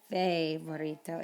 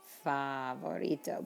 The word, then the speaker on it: favorito: i hear is favorito it's not fair burrito it's favorito because the letter a is a fa vorito favorito accent marks are